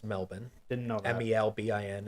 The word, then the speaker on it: Melbourne: And no, for the record, it's not Melbourne. It's Melbourne. Didn't know that. Melbin is basically how you're supposed to pronounce it.